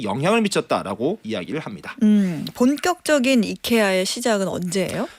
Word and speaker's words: IKEA: 우리 앞에서도 잠깐 얘기했는데 미국인들은 이거를 영어 발음으로 아이키아라고 말을 하고 스웨덴 현지 발음은 이케아 이렇게 발음이 맞고 사실 본사에서도 이케아라는 식으로 공식 홍보를 이제 발음으로 하잖아요.